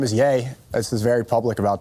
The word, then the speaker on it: Ye: one thing that really triggers a lot of people when you mispronounce their name. Yeah.